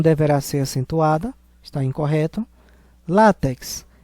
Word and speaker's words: látex: ser acentuada está incorreto látex é uma paroxítona terminada em X por isso que deverá ser acentuada Giló é uma oxítona